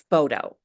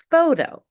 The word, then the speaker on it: photo: When the letters T or RT are between two vowels, the T is pronounced as a very light D. An example of this is the word photo.